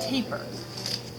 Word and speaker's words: tapir: This is called a taper. See that animal? That's a taper. This is an ant. Yep, it's pronounced taper.